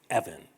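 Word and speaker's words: אבן: And Evan is actually the pronunciation of a Hebrew word, or an Aramaic word even, Eben.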